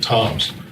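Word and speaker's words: Tzomes: He spells his name T-Z-O-M-E-S, but he pronounces it Toms.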